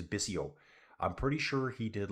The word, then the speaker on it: Bissot: I think you say it as Bisio.